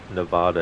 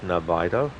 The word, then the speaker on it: Nevada: So, on a side note, if you're talking about the great state of Nevada, it's pronounced Nevada. If you're talking about the desert, then it's Nevada.